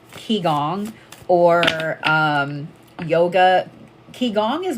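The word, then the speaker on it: Qigong: what I love about Kong and this is spelled Qi and then the next word is g o n g keong is that it's more of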